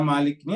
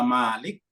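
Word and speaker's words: مالك: Nah, di dalam Al-Qur'an Mas sekalian, kata-kata Malik ini ada dua macam cara membacanya. Ada kata Malik, mimnya pakai mat, Malik. Ada tidak pakai mat, Maliki.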